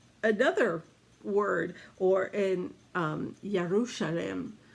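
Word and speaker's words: ירושלים: word or in um yarushalam would be more of the hebrew sound and the verb of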